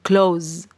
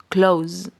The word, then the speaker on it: close: por qué Porque primero no pronunciamos la e y segundo a pesar de que está esta s acá esta s no se pronuncia como una s sino como una Z como una Z Por así decirlo como una Z Close Close vale esa sería la